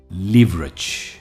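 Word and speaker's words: leverage: की तरफ जो है लिवरेज ली वरेज लिवरेज इस वर्ड में स्ट्रेस ली पर है लिवरेज लिवरेज का मतलब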